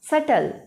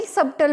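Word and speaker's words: subtle: की साउंड, फिर ल, सटल। लेकिन हम नॉर्मली सबटल बोल देते हैं। बस ध्यान रखना कि हम जो बोल रहे हैं वो रॉन्ग प्रोनाउंसिएशन है, ये है सटल।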